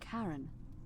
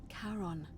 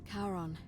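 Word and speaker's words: Charon: as you described it only your pronunciation is a little off the name you heard wasn't Karen I knew c h a r yes I knew this I knew Caron the Fairman of the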